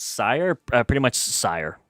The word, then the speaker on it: Syhr: Pretty much sire like like sire like like if you're being like very regal and proper like for you sire pretty much that's how it's pronounced.